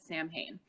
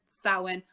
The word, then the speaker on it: Samhain: So if you've seen that, a lot of people pronounce it Samhain because they've never heard, it's like originally an Irish Gaelic word, Samhain. However, it's a very ancient word. We don't actually know that it's supposed, we think it's pronounced Samhain, but we don't actually know that.